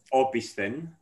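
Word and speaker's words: ὀπίσθεν: try to pronounce manoli you can pronounce it opisthene so it can mean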